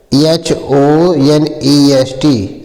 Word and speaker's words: honest: पहला वर्ड है HONEST। तो एच यहाँ आपका साइलेंट हो जाता है, ओ से पढ़ा जाता है, तो ओ से यहाँ आ पढ़ा जाता है।